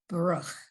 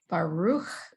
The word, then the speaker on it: Baruch: Yeah, I have a question about the word Baruch, because it's pronounced Baruch or Baruch. There's an sounds like it could go either way, Well, I think it depends upon your accent.